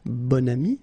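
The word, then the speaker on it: bon ami: adjective okay and then you pronounce it bonami when you make this link second example bam so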